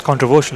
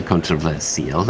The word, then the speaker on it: controversial: It's controversial, isn't it? With a sh. Yeah. You say with a pronounce lot of Australians. Well, it hasn't got a sh so you could say controversial. And Australians often do.